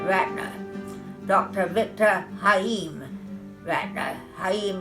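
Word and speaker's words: Chaim: Haim is spelled C-H-A-I-M.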